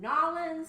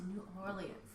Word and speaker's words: New Orleans: to pronounce this again is it nawlins is it what's the price in New Orleans New Orleans that's the proper way to say it but New Orleans and